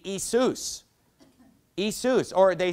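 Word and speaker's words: Ἰησοῦς: You know, if you were to pronounce the Greek word for Jesus, it would be Isus.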